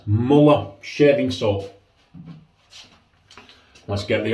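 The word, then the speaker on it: Mühle: he said he's smaller so what will say Muller mama so that's how we'll pronounce it or Marilla there you go these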